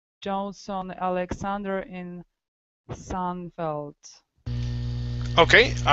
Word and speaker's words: Seinfeld: like Johnson Alexander in Seinfeld. Okay, all right, very good. All right, so let's go to this last word here. It's sign. Seinfeld. Seinfeld.